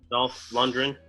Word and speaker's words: Dolph Lundgren: Dolph Lundgren.